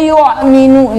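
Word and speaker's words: يؤمنون: Hati-hati membaca hamzah yang mati. Banyak orang kita membaca hamzah mati sama seperti membaca huruf ain, seperti alladzina yu'minu. Itu salah, bukan yu, nggak ada yu di situ. Yu yang benar yu.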